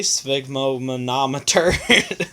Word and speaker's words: sphygmomanometer: as I can and no one else can pronounce it correctly sphygmomanometer and then we also have a pulse oximeter